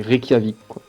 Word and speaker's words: Reykjavik: genre rec rec jamaïque le jce à se prononcer en fait comme ça c'est reykjavik est donc le mot a trouvé était juge